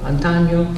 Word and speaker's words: antaño: See how it rhymes, this year and last year? Hogaño, antaño, like that.